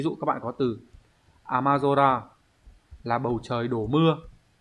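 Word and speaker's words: 雨空: Ví dụ ghép vào ấy, thông thường những cái từ ghép âm cư với nhau sẽ đọc là zora. Ví dụ các bạn có từ amazora là bầu trời đổ mưa.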